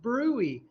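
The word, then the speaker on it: bruit: yes yes brewy is spelled Brew it is pronounced brewy a brewery is an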